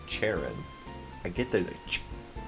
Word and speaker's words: Charon: If you say it the only way I think I can pronounce it, it sounds like Sharon. I mean, it's Charon.